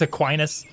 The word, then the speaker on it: Aquinas: It's Aquinas. It doesn't look like it should be Aquinas because that's a dumb way to say anything, but I think it is actually pronounced Aquinas.